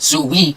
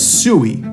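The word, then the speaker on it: Siu: Not only did Speed mention the most popular human on earth, Cristiano Ronaldo, but he mispronounced the word he yells in his signature celebration as Sooie instead of Sue.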